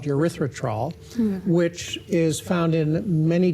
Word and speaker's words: erythritol: And we're talking about erythritol. Erythritol. And this doctor continually mispronounces it. Erythritol. Stuck an R in there.